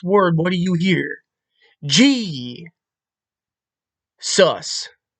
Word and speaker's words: Jesus: G. Sus. G. The J is pronounced as a G.